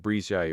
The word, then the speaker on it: Bridget: Patrick Oreille, pronounced Oreille, Miss Bridget, pronounced Brizay Oreille, Mrs.